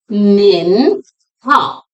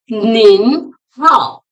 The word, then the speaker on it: 您好: How to pronounce Nin Hao? Nin is pronounced with the second rising tone. Nin. Hao is in third tone.